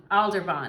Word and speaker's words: Aldebaran: Or Aldebaran is how you say it.